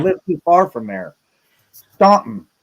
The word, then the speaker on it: Staunton: too far from there Staunton it's spelled stop but they pronounce it Statin stem it's the same